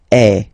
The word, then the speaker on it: es: Okay, and for tu, then you've got this combination of letters. Okay, but then basically the sound you will pronounce or you will produce is est.